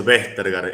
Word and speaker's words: Vestergaard: No, se pronuncia Vestergaard, es de origen danés.